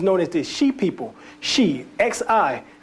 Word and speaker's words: Xi: Shi, X-I. That's how X-I is Shi. That's how it's pronounced within the Olmec tongue.